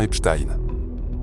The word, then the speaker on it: Epstein: Et je sais que certains d'entre vous écrivent aussi au sujet de la prononciation mais on dit bien Epstein.